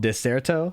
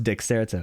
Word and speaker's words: Dexerto: my audience for uh I didn't know how to say this apparently it's called deserto I thought it was dexerto anyways I know a